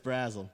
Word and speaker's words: Brasel: But, what is it? It's Brazel.